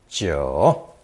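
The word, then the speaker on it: 九: the character 4 9 is pronounced third tone Joe the elbow character was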